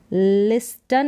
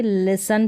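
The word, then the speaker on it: listen: फिर है आगे लिसन, इसको पढ़ेंगे लिस्टन नहीं पढ़ेंगे, लिसन पढ़ेंगे। यहाँ पर ये जो टी है ये साइलेंट है।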